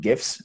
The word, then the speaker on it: GIF: all non-millennials out there the proper pronunciation is gif it's not jif clearly that's an ongoing